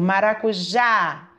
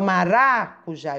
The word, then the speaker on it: maracujá: palavras falando de uma forma mais forte a sílaba acentuada eu posso perceber também o som que sai por exemplo maracujá o já eu falei mais forte eu não falo maracujá eu não falo mais racuja eu falo maracujá é o jack é forte